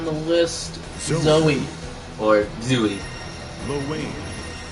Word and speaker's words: Zooey: Or Zooey. Low wave. Yeah, it should be pronounced Zoe, but here we are.